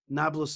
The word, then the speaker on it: Nablus: arab name for shechem nablus is actually a roman world word it's comes from the word neapolis but they don't pronounce the p so they go napla nablus but neapolis means neopolis